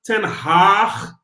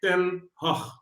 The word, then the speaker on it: Ten Hag: It's not Ten Hag with a double A, It's not Ten Hag, like a little Haag. No, it's like Erik Ten Hag.